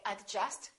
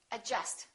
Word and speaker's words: adjust: we say yach Okay silent D adjust don't say adjust say adjust adjective all right silent L